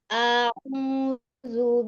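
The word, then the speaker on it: أعوذ: Jangan dipanjangin. Hamzah itu punya sifat namanya syiddah. Syiddah itu kuat ya. Sehingga bacanya tidak boleh di ayun.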